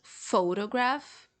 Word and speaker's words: photograph: to do with photos, but they have different stress syllables. So photograph, photography, and photographic.